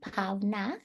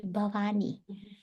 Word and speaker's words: Bhavna: She couldn't pronounce my name, Bhavna. She used to call me Bhavani. Bhavna wouldn't come from her mouth.